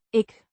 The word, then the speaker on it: ik: Ik doe weer even mijn food-dansje. Ik means I, pronounced ik with a short I sound as in it, and a soft k sound.